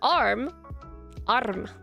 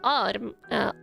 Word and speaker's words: arm: Gotta roll your R's. Oh, I didn't say that, but yeah, if you're like, you don't need to do it, but you do need to like at least slightly learn how to roll your R. So arm, arm. Not that much, but arm. Like the very slight rolling R.